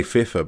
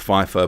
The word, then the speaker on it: Pfeiffer: changed from eric pfeiffer i always want to say fifa because the um i had an art teacher same spelling she pronounced it fifa but apparently it's pronounced pfeiffer but some comments by